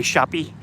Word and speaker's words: Shoppe: Across the street there, you got the Apothecary Shoppe Compounding Pharmacy. They spell it like Old English. S-H-O-P-P-E. Shoppe.